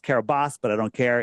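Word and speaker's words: Kiribati: It's pronounced Carabas, but I don't care.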